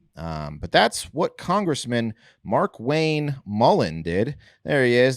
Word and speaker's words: Markwayne: capitalized it's mark yes say it like this mark wang mark wayne like mark twain yeah mark wine no hyphen no not